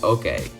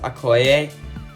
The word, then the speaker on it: Okoye: So coming in at number 21 is Okoye. Wait, hang on, I gotta look up how to pronounce it. So I looked it up, and I think her name is pronounced Okoye, but I could be wrong on that.